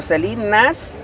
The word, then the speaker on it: Celinazz: Celinas en YouTube, pero Celinas, o sea, con Z. Celinas. Supuestamente es la pronunciación de la Z.